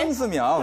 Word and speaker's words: 孙思邈: 그 중국어로 하면 이제 순스미ao 이렇게 읽는데. 정확한 발음인가요, 네, 이게? 순스미ao. 네, 맞습니다. 확인할 길이 없네. 순스미ao, 순스미ao, 순스미ao.